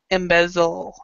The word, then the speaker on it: embezzle: so embezzlement and so be sure to pronounce the Z when you say embezzle embezzle so it's basically when you do the embezzle you pronounce the Z in the front of the mouth is 0 then you